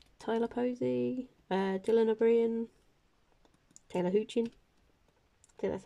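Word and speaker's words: Hoechlin: tyler pro tyler posey uh dylan nabrian taylor hoochie okay that's how you say his name guy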